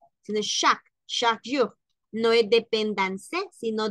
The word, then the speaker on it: chaque: Hay que recordar lo que ya hemos dicho, que la, por ejemplo, la E no tildada, pues no se pronuncia, sino que aquí diríamos chaque jour dépendance à l'amour. Chaque, no chaque, sino chaque jour.